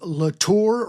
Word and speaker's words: Latorre: If you want to go back, that episode was called Latorre Rhymes with Not a Bore.